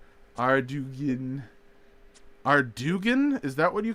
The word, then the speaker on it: Ardougne: Oh no, it's Ardougne.